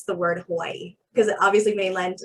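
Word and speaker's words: Hawaiʻi: actually hawaii so the w is pronounced like a v and then that little dash is called a okina so it's it's kind of like a it's like a emphasis so hawaii so the yeah hawaii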